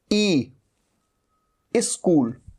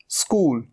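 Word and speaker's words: school: ये यह क्या है कई स्टूडेंट्स गलती करते हैं ई लगा देते हैं ई स्कूल स्कूल नहीं स्कूल स्कूल स्कूल स से ही शुरू होगा स्कूल स्माइल स्टाइल जैसे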